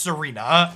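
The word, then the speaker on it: Tsareena: Is the T silent? It's just Serena.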